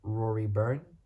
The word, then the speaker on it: Rory Byrne: So yeah, technical director Rory Byrne. It's spelled B-Y-R.